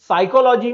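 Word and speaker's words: psychology: उदाहरण के तौर पर फिनोमिना में पी साइलेंट है, ऑनेस्ट में एच साइलेंट है, लिसन में टी साइलेंट है, साइकोलॉजी में पी साइलेंट है, वॉक में एल साइलेंट है, नाइफ में के साइलेंट है।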